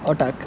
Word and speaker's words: otak: Otak. Otak. Yes. That's how you pronounce Otak.